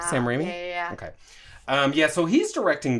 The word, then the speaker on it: Sam Raimi: up we turned that sprayed off it's a Sam Raimi is how you say his name Sam Raimi yeah yeah so he's directing this so like